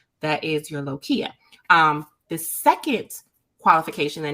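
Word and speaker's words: lochia: it low Chia lokia how do you say it lokia oh like marble okay like Loki but uh okay lokia um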